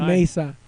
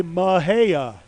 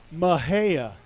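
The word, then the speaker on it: Mexia: I would have looked at it and thought, the Spanish pronunciation, Mejia or something like that, but that's not what they say. They say Mahea. Mahea.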